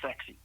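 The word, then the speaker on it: CEXC: So the initial CE XC are pronounced sexy.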